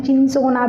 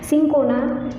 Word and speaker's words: Cinchona: Cinchona, some बच्चे उनका pronunciation चिंसोना भी करते हैं बट इट इज़ नॉट the right pronunciation. सिंकोना की जो बार्क पार्ट